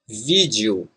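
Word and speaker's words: vídeo: world just J and the ending e o again it's similar to you in new so if we put all together we say like this vid you vid you me and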